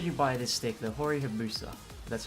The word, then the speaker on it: Hori Hayabusa: But, today, should you buy this stick, the Hori Hayabusa?